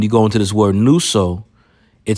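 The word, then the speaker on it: νύσσω: Strong's G, 3572, nuso. Nuso. Okay, well, it's nuso, which ironically sounds like the word noose.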